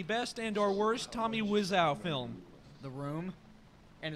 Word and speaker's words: Wiseau: I want everyone to compare this to the best and or worst Tommy Wiseau film, The Room.